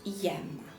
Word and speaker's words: ème: donc ou numéral cardinal on ajoute aux accents graves m e qui se prononce iem attention il y à